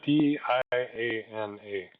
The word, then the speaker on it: Dana: because it's spelled kind of weird it's a d a n a uh but it's apparently pronounced Dana so she says um so at